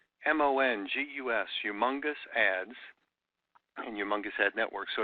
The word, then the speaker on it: Youmongus: bit of fun so we spell it the way it sounds y ou u mo ng us humongous ads humongous ad network